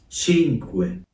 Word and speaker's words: Cinque: Five to be specific, hence sink, which is five in Italian. Chinuin. I'll be pronouncing it wrong for the rest of the video.